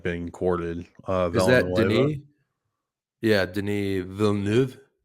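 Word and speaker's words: Denis Villeneuve: like being courted yeah Deni Vu am I saying it right he's French it's Deni V oh I didn't [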